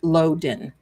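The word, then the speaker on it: Lodan: Nicole Loen. It's it's pronounced Loen.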